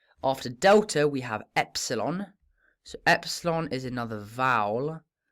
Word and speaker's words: epsilon: But importantly, this is a short E sound. A short E sound. So a kind of eh. Like in bet.